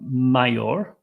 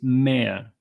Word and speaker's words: mayor: m a y r the pronunciation is a little bit strange mayor it's not mayor okay it's mayor mayor and the mayor is